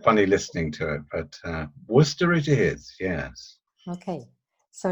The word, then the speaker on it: Worcester: we pronounce your city we pronounce it Worcester but then the Americans do say they say were sister so it's quite funny listening to it but Worcester it is yes okay